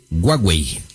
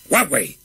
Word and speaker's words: Huawei: y chinas, me dice, nos corrige, que es Huawei. ¿Huawei? No, Huawei.